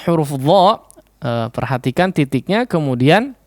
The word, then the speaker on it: ظ: ya, yaitu pengucapan huruf dha. Perhatikan titiknya, kemudian cara pengucapannya adalah seperti atau sedikit menggesek antara kedua ujung lidah ini ya, atau kedua ujung lidah dengan ujung gigi serinya.